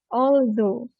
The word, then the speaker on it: although: Kalau tadi kita belajar apa? Although itu kalau kita ada ngaji ada da, ada dal. Although.